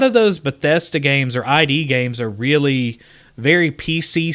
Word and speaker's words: id: on it now it's it's just pronounced id whatever is it id yeah oh yeah okay